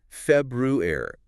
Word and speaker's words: February: Looking at it, you see both Rs. Feb Ru are. You expect to hear them both clearly. February. And that is technically correct. It's a perfectly fine pronunciation. What? But in everyday casual speech, a lot of native speakers, probably most, tend to drop or really weaken that first R sound, the one right after the B.